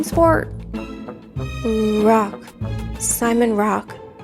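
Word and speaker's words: Rocque: Rock. Simon Rock. He pronounced it rock.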